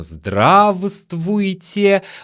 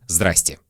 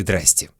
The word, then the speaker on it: здравствуйте: И учитель вам говорит: мы пишем «здравствуйте», но произносим «здравствуйте». У меня для вас плохие новости. Мы не говорим в нормальной жизни «здравствуйте». Мы говорим «здрасте» или «здрасте».